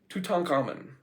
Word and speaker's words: Tutankhamun: Tutankhamun.